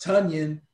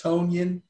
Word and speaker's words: Tonyan: at number 15 robert tonyan and i remember how to pronounce his name because tanyan rhymes with onion and that's how i remember because i thought i thought it was tonyan for a long time until i